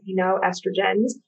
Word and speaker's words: xenoestrogens: Yeah, so many chemicals in our environment are endocrine disruptors, and particularly xenoestrogens. It starts with an X, but pronounced xenoestrogens, which mimic the action